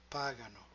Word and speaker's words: pagano: Voi pagate, and loro pagano, with the accent or stress retracted.